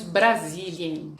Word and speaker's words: Brasilien: Em alemão, nós dizemos Brasilien.